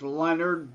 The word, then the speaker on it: Lenard: It looks French. It's not Lenard, Lenard. right? It's Leonard, but without an O. And yeah, It's I have to distinguish as Leonard because there is a